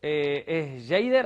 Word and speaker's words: Jeyder: ¿Es Jader, así se pronuncia? Sí, así, exactamente así.